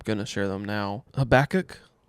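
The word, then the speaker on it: Habakkuk: Habach. Yes, that's how you say it. I always say Habacook and I always get told that that's wrong.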